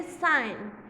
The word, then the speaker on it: sign: द G in the words is silent.